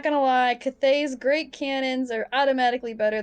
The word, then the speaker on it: Cathay: It's not Kathy. I keep wanting to say Kathy. Kathy? Cathays. Cathays? Cathays? Cathay. It's basically Cathay. Cathay, yeah. Someone goes, not gonna lie, Cathay's great cannons are automatically